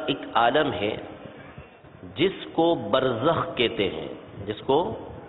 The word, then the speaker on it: برزخ: کو برزخ کہتے ہیں، با جس کو بے بولتے ہیں اردو میں، را جس کو رے بولتے ہیں، پھر زے، پھر اس کے بعد خے، یعنی جو اردو تلفظ ہے اس کے مطابق برزخ۔ یہ برزخ ایک عالم